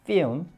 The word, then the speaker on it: film: 관련이 있는데 이렇게 영어에서 LM이 겹치면 L을 발음하지 않는 규칙이 있습니다. 이게 예. 그러니까 여기 발음교에 이렇게 적혀 있더라도 이게 적으면 안 되는데 원래 이거 저기 발음하시면 안 돼요. 그래서 필름이 아니라 피 이게 어떻게 해요? 피 음에 가깝습니다. 즉 이 단어 자체가 음에 가깝습니다. film, 예, 필름이라고 하시면 안 돼요.